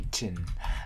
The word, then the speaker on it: kitchen: Từ này trọng âm nhấn vào âm đầu tiên là kit. Thứ hai là trần. Trong trường hợp này, chữ e này thì phiên âm thành âm y ngắn.